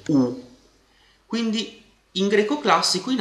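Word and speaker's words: ου: Jota e il dittongo omicron Y che vi ricordo si legge u quindi in greco classico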